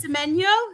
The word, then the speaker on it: Semenyo: Antoine, is it Semenyo? Semenyo? Yeah. It sounds like Circle of Life, doesn't it?